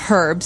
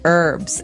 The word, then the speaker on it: herbs: actually you can say herbs it's a very British thing to do though Americans and Canadians say herbs it has an H in the front that's why it's confusing okay so we can